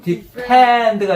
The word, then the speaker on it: defend: 머리에서 떠오르게 한번 뽑아봤는데 P는 depend 이런 느낌이라면 F는 defend가 아니라 약간 defend 이런 느낌이에요. 다음에 이거 발음 잘 들어보세요. 예. 근데 얼뜻 들으면 거의 똑같다고 느껴져요. Defend. defend. F 발음은 펜이 아니에요. fan 이런 느낌이에요.